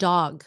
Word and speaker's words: dog: How about short form doc and dog? Doc. Hey, doc. And dog. It shouldn't sound the same. One is a C and the other one's a G sound.